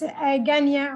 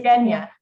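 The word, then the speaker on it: Ghania: Yes, Ganya, or you can just say Genya.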